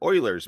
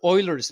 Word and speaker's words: Euler: spelled Euler's, It is. but it's pronounced totally Euler's. When Yes. I first, probably lots of people are like this, but when I first did, I said Euler all the time, and then someone finally corrected me, and said it's Euler, and it's like, no, what?